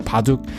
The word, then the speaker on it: baduk: ba ba ba and it ends up sounding like a p to a lot of people because people aren't used